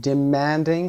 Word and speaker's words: demanding: demanding صدای man، flustered، bizarre صدای زار